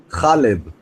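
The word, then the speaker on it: Halab: whatever so what is it how do you pronounce it correctly khalib there's no pee there there's no pee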